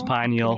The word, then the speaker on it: pineal: It also that's so interesting about the third eye and the gland that I can never pronounce. How do you say it? Yeah, I believe it's Pineal? pineal. Pineal?